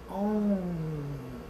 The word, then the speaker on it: Om: um todo tempo repetindo essa pequenina sílaba oi mas a gente pronuncia como um então isso traz uma